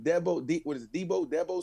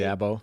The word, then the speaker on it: Dabo: room, or whoever, Sweeney, Deebo Sweeney. How you say his name? Dabo. The Clemson guy. I don't watch no college football. Dabo Sweeney. Right, Dabo Sweeney, whatever his name is,